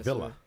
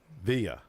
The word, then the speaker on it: Villa: and via VIA see I want to say Villa it's because uh I Mexican so we pronounce uh double L's as y's oh so it's viaa and then it's D DAV